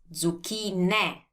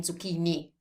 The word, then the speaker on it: zucchine: And zucchini is zucchine. Zucchine. So we have an ending E that's pronounced as always in Italian, zucchine. Don't make the mistake of saying zucchini, because that's not Italian, it's zucchine.